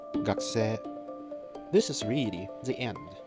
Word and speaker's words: がくせい: yourself not even knowing why you don't need to pronounce that U, but gakuse becomes gakuse.